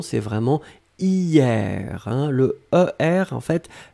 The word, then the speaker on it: hier: On l'écrit avec un H, mais bien sûr, on ne le prononce pas. Donc la prononciation, c'est vraiment hier, hein.